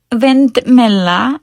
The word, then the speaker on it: vindmilla: And on the other hand, there are other words that, like vindmilla, that are pronounced softer, as if there aren't two of the L's in that word, or the second L is simply silent.